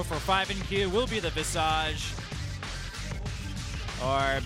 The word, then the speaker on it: Visage: the second hero for PHOENIX will be the Visage, or Visagi, as it would be pronounced in Korean.